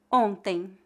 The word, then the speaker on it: ontem: Note que palavras que terminam com as letras AM ou EM, apesar de não serem escritas com duas vogais, são pronunciadas como ditongos. O ditongo AM é pronunciado como ão e o ditongo EM é pronunciado como em. A letra M não é pronunciada.